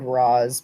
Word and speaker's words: Ra's: know out not moving it's called Roz but I think it's supposed to be riche yeah so I think it was arrow which they pronounced that way she'll go I please